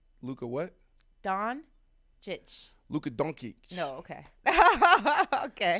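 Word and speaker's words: Dončić: Doncic. Luka what? Doncic.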